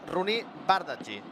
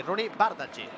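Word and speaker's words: Roony Bardghji: No, mira, m'indica el meu bon amic Marc Andrés, gran professional, que la pronúncia és Rooney Bardghji.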